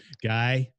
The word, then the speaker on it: Guy: So again, LinkedIn, first name Guy, so Guy, but it's pronounced Guy.